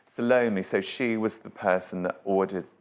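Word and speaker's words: Salome: more of I think I've say this wrong. Salomi. Do I say it right? Salomi. Yeah, I'm saying that right. Salomi.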